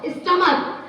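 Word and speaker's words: stomach: देखो स्टमक, तो स्टमक में लास्ट में प्रोनाउंसिएशन क्या रहा है, क। जिसके लास्ट में प्रोनाउंसिएशन सीएच के रहते हुए भी, फिजा ध्यान दो, सीएच के रहते हुए भी प्रोनाउंसिएशन यदि क आता है, इट मींस कि वहां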